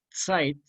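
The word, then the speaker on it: Zeit: ser sign on site site que se pronuncia con ts se escribe con zeta shape y significa tiempo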